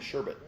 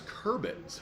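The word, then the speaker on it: Chrebet: They do have autographs of Corley and Sherbet. Sherbet. How do you say his name? Jets right now. The discount from 49 down to only 35. Thought it Kerbett. There we go. It's Kerbett.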